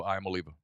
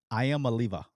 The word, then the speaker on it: Iamaleava: Can you pronounce that one more time for me? Nico Iamaleava. Iamaleava.